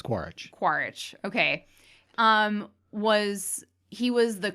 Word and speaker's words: Quaritch: It's like Quidditch, but it's Quaritch.